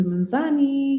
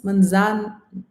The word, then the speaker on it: Mzansi: But yes, welcome to Manzani. Yes, Mzansi. Did I say it correctly?